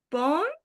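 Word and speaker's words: pont: Sí, tenés que pronunciar en O nasal. La T final no se pronuncia. ¿Cómo lees esto? Mm, Pon, Pon, muy bien.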